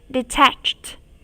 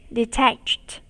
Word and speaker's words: detached: Detached. Detached. Từ này có âm cuối được phát âm là t.